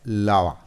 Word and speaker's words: lava: We have 2 syllables. The first one is stressed, lava, and the second one is unstressed.